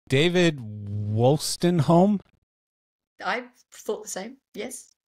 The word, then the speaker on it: Wolstenholme: So, and I'll probably pronounce his name wrong. David Wolstenholme. I thought the same. Yes, Wolstenholme.